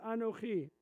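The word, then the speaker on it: אָנֹכִי: not pronounced but what's the first letter? Aleph. And what sound does an aleph make? Nothing. Thank you. Another part-S education right there. That's good. The aleph is silent.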